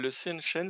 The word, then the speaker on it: Seanchan: Je vais dire, alors ça se prononce tellement différemment, excusez-moi, le Sinshan? Le Sinshan? Seanchan, c'est également une bonne réponse, tout à fait.